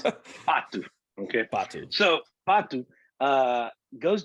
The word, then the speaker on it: Pato: Patu, that's how you say it. Okay. Patu. Okay. Not Patu.